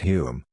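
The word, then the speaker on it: Home: morally broken conservative government headed by H pronounced Hume who had been Chamberlain's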